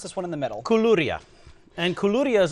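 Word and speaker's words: koulouria: one we haven't talked about how do you pronounce this one in the middle kuluria and kuluria is like uh this goes yeah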